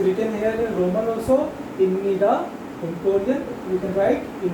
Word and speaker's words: 입니다: We write it ibnida. Okay. But we pronounce it imnida.